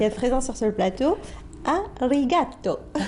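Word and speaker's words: ありがとう: Je vous en prie, et je vous dis à vous tous qui êtes présents sur ce plateau, arigato. Arigato, je le prononce à l'italienne.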